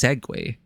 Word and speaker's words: segue: Seu looks a bit odd. Yeah, it looks a bit odd when written right that. But it's actually pronounced segue.